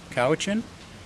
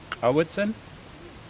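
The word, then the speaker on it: Cowichan: So I'm from Kawichen. Our valley is named, although today they mispronounce it. It's Kawitzen, but we are the Halkamitnam speaking peoples of southern Vancouver Island.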